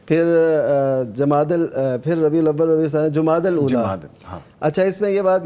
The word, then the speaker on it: جمادی الاولیٰ: عام طور پہ جمادی الاول جمادی الثانی جو کہا جاتا ہے, یہ اس کا تلفظ ٹھیک اصل جو آپ فرما رہے ہیں جمادی الاول اولا جمادی